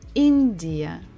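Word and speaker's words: Индия: the country India India so here we stress the first syllable in India India India India next one is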